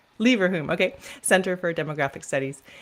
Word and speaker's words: Leverhulme: deputy director of Oxford Leverhulme, how do you pronounce that? Yeah, I say Leverhulme. Leverhulme, okay.